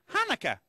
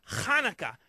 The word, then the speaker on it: Hanukkah: They're teaching me a really fun game that's played at Hanukkah. Actually, Telly, it's pronounced Hanukkah, you know, with more of a ha. Huh, like that? No, more in the back of the throat.